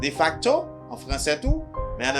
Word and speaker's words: de facto: Là on dit de facto. De facto. La kay nou li prononce comme de facto en français tout, mais en anglais il prononce comme de facto.